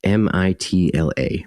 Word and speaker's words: Mitla: tombs and it has really cool It's like m i t l a Mitla is how you say it.